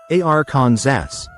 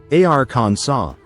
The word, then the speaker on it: Arkansas: used a different version, arsaw. It echoed the original French transliteration of the Alii word for the Quapa people. In French, that final S is silent.